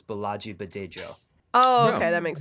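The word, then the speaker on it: Bolaji Badejo: I did it just a little bit wrong. The J's are harder. It's Balaji Badejo.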